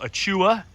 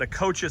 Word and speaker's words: achocha: That's the best way I've heard it pronounced. It seems right. I've heard it called achua and achoa, but achocha seems to be the proper pronunciation.